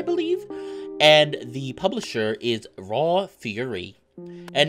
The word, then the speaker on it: Raw Fury: and the publisher is raw fury and no it's not raw fur furry spelled f-u-r-r-y it is fury spelled like fury rage so i'm gonna be